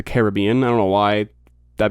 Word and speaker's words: Caribbean: Um which, side note, it's it's pronounced the Caribbean, not the Caribbean.